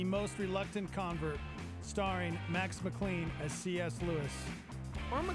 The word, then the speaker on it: McLean: reluctant convert starring max McLean as CS Lewis on the claim is it MacLaine of a clean clean like John McClane he was being very